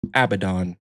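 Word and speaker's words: Abaddon: The name is pronounced Abdon.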